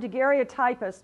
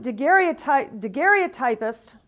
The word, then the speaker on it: daguerreotypist: And so Baldwin became the first full-time daguerreotypist, or they pronounce it daguerreotypist, which looks really weird, but that's the way they say it, in Kalamazoo.